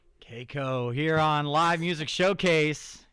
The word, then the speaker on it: Kayko: Is it KCO or Coup? KCO. KCO. KCO. There's people in the comments that are like K. So I was like, oh man, am I saying it wrong?